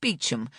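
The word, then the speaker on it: Beauchamp: The name Bon is pronounced bichum and boha is boon.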